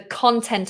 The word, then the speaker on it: content: sentences that's the content notice how i pronounce that con content i feel content with my content the stress is different so it slightly changes the vowel my content my work my content the stresses at the beginning my content